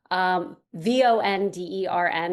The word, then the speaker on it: Vondern: Vondern, it's spelled differently. So it's Wandern. Here's your German lesson for the day. Vondern is the way you pronounce it.